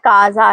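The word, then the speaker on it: casa: اب دوسرا لفظ ہے کازا. اس کا صحیح تلفظ ہے کازا. یہاں سی کے بعد آ آیا ہے اس لیے کاف کی آواز آئے گی, اور کازا کا مطلب ہے گھر.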